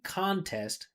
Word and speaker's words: contest: If this is the noun, right, this would make the first syllable stressed, and it'd be contest. You see that unstressed T? We're still pronouncing it contest. Test, test, test, test. Contest, like that.